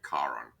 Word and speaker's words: Charon: and that's a K sound, and it's actually Charon, to be honest. Is that a very famous shield logistic ship pronounced the way that Shadu would want us to pronounce it?